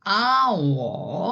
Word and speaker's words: hour: 시간이라는 단어고 예 네네 그냥 아워 하고 읽으셔야 돼요 아 뭐 리 발음